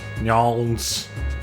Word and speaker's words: New Orleans: Gotta say it like a local. Nyons. Gotta reduce it to one syllable if you can.